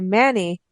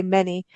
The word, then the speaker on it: Many: We were just traveling around and went to Manny. And it's Manny, right? Because you know how I pronounce everything so well. Manny, right, Arlene? You're right on. Okay, because, before I'd say many, but it's Manny.